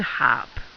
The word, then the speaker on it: harpe: The way that we pronounce a harp, we actually say the H sound. Okay? So, is it un harp, le harp, or une harpe?